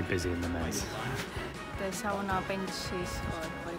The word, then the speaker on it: sauna: Or perhaps I should say sauna. I know I'm going to get lots of complaints because I usually use the kind of common English pronunciation, but of course it's sauna in Finnish.